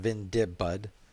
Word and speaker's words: Vindibudd: is uh this has just been me drawing Ventoux but it's pronounced pin dip bud the name is derived from a comic strip